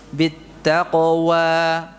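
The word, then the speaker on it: بالتقوى: Bittaqwa dan seterusnya. Tadi lupa di awal belum diingatkan. Itu dibaca dengan sempurna fathahnya. Jadi tidak dibaca dengan taqlil atau imalah sughra.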